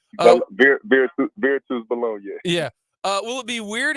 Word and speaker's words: Virtus Bologna: Will it be weird going to play against I'm going to butcher the name, Kyle, it looks like Bologna, but it's not how you pronounce it. Virtus Bologna.